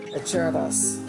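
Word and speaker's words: Acerra: It's an Italian name and is pronounced Acerdas, and it's dedicated to the Acerdas of the past, present, and future.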